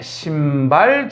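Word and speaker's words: 심발: 그 다음에 중발 지진, 그 다음에 신발 지진. 발음 잘해라. 깊을 심자 쓴 거다. 너희들이 좋아하는 그 숫자 쓴 거 아니다.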